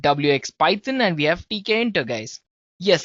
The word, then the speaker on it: Tkinter: QT we have WX Python and we have TK enter guys yes it's spelled as TK enter right so it's t